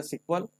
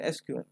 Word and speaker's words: SQL: for structured query language people sometime call it as a SQL sometime people call it as a SQL both the things are correct so it depends on you how do you want to pronounce so basically SQL stand